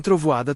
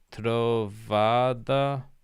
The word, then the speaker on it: trovoada: Na praia sempre tem trovada. Is that how you say it? Trovada? Trovoada. Forte.